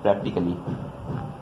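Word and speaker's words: practically: आपका अगला वर्ड है प्रैक्टिकली, प्रैक्टिकली, ठीक है।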